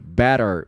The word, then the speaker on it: better: Pretty woman, pretty, prett pretty better, better. Que que tá acontecendo? T vogal T. Pega o som do R, o R do português.